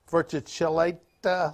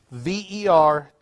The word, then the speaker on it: verticillata: This is Hydrilla verticillata leaf. I pronounced that middle word wrong. Not correct. Verticillata.